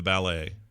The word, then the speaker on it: ballet: I'm going to the ballet so the emphasis on the second syllable yeah ballet did you go to